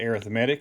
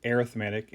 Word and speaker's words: arithmetic: talk about two of them we'll talk about arithmetic and that's how it's pronounced arithmetic and then geometric an arithmetic sequence is when